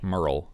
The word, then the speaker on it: Merle: haggard's first name correctly merle merle like a girl with an m that's all right that's not a real name merle yeah it's just a made-up word merle haggard merle haggard merle